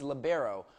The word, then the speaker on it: libero: She's junior Ashlyn Morris, and she's UNCW's libero, or defensive specialist. You spell it L-I-B-E-R-O, and it's pronounced libero, one of the most misunderstood positions in volleyball.